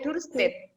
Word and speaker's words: Duurstede: benteng DC benteng duurstede tulisannya benteng duurstede bacanya benteng duurstede Bagaimana akhir perjuangan Kapitan